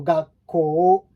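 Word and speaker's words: 学校: This one, when you have a double vowel in Japanese, it's usually we don't pronounce u, enunciate u. We tend to kind of mix them up, and it makes the elongated sound of o, like the last one that follows.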